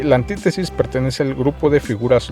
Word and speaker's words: antítesis: Hay que tener mucho cuidado con la pronunciación. No es antítesis, ¿sí?, ni antítesis, es antítesis.